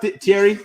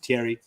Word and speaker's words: Thierry: What's up, Thierry? I always want to say Thierry because that's what I called him, and now I know how to pronounce it right, Thierry.